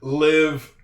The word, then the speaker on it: live: Because we know that this word can be said two different ways. The word live, L-I-V-E, can also be pronounced live. Like if you go fishing, you might use live bait. I put that up here, live bait. So the word L-I-V-E can be said both ways, live and live.